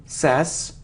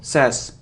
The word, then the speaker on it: says: sweet sweet sweet so it isn't sass now says it's like say but he should eat sass but not says says they says he says it's a very common mistake and it isn't deposit